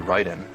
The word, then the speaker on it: Raiden: It'll always say right because that's the way it would be pronounced. Mhm. You know, one that's a big problem, it's actually Ryden.